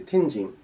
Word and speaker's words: 天神: んですかね天の神と書いて天人といった方が正しいのかなと